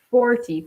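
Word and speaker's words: forty: So 40, for example. You emphasize the first syllable, okay? There are two syllables, for and T, but you emphasize the first one, 40. The second syllable is pretty low.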